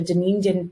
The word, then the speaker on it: Dunedin: And am I pronouncing that correctly, Dr. Moffitt? Dunedin?